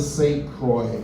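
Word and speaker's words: St. Croix: I was born on the St. Croy spelled with an I and an X. The letter that puts the zing in my name and the pleasure and sex falls silent.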